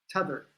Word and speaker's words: t'other: combining the words the other, and they say t'other. T''O''T''H''E''R, and still in Twitter. Somewhere in my profile, it's spelled that way, T''O''T''H''E''R.